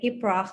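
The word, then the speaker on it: iprax: like kurdish call it ibrah i p r a x and the x is uh pronounced like ha like iprof and it's um so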